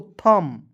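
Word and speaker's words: thumb: थंब क्यों नहीं पढ़ेंगे क्योंकि यहां पे एम जो है साइलेंट हो जाएगा इसे पढ़ेंगे दोस्तों देखिए थंब नहीं यहां पे एम नहीं साइलेंट होगा यहां पे बी साइलेंट होगा दोस्तों ठीक है तो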